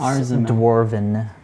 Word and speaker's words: dwarven: us know andy's saying that it's pronounced dwarven dwarven yeah like war okay dwarven sweet very